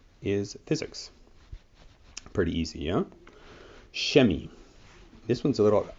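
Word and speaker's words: Chemie: physics pretty easy yeah shemi this one's a little it's hard to remember but when you see it you're like oh i know that's chemistry um so chemi is how it's pronounced and we have kunst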